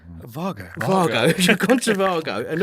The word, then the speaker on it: Wago: You've gone to, how do you say it? Vago.